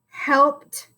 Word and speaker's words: helped: Helped. Now, helped sounds like a T at the end, but we all know that that ED makes 3 different sounds.